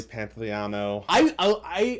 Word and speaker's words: Pantoliano: Joey Pantoliano. I always feel like I'm mispronouncing his name, even though I know I say it right.